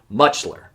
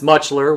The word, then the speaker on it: Mutscheller: when you look at it, it's hard to pronounce. I had to practice it multiple times just to prepare myself for this episode. Mutchler. But let's go ahead and change that right now. James Francis Mutchler was born on March 31st, 1930, in Beaver